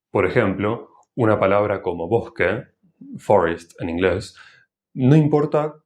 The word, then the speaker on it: bosque: La S aspirada suena un poco similar a la H en inglés, pero más suave.